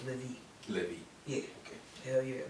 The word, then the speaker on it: LIVe: The E is silent. No, it's Livy.